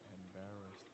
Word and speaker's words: embarrassed: I get embarrassed. Embarrassed. Embarrassed. All right. Emphasis is on the second syllable.